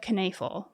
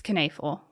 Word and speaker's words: Knoefel: is the murder of Lisa canafel yes it's coneful it's spelled a little different so all right so